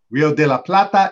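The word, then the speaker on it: Río de la Plata: means silver River Melony Rio de la Plata Rio de la Plata is correct and boy was there controversy online on the show people were mispronouncing it like crazy a lot of people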